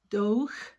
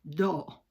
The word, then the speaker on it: dough: Fíjense cómo se escribe dough y solo se dice dough, como si se les cayera la quijada, dough.